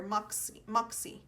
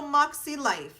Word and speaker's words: Makselife: Makselife here, Moxie. Oh, you say Moxie, so you don't say Makselife. There you go. So Makselife.